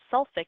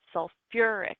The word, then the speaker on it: sulfuric: add another uh sound so it's not sulfi acid it's sulfuric acid it's not phosphor it's